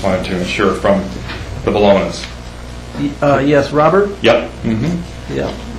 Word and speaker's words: Bologna: I just wanted to ensure from the Bolognas. Yes, Robert. Yep. Mm-hmm. Yeah. Dated April 15th, 2013. It says, to whom it may concern, we, Robert, and Linda Bologna, am I pronouncing that correctly? You are.